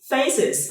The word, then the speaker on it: faces: Khi đọc nó bạn chỉ lấy ending sound gốc từ nối với IZ là xong. Ví dụ face, faces.